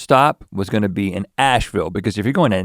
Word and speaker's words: Asheville: First stop was gonna be in Asheville, because if you're going to Nashville, you should stop at a town that rhymes with it before you get there.